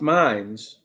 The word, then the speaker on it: Mainz: minutes it's it's good it's pronounced Minds all right can barely